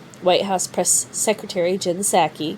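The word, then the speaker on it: Psaki: house press secretary jen sackey because the p is silent and sacky just like the p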